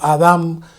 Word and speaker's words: Adán: qué dice Adán y estoy diciendo Adán como se pronuncia en hebreo no en español y me referiré a